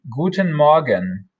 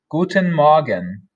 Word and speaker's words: Guten Morgen: rather good morning and that is pronounced guten magen guten magen we can of course